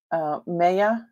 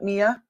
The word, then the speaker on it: Maya: Maya. M-A-Y-A, Maya, not Mia.